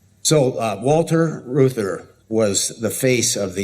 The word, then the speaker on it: Reuther: It's spelled kind of strange, sort of like Reuters, Reuther. It's a German name.